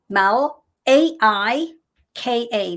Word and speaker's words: Malaika: Yes, M-A-L, Mal, A-I-K-A, Malaika.